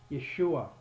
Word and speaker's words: Yeshua: head anyhow so now we go on to Yeshua which is the real name of what Jesus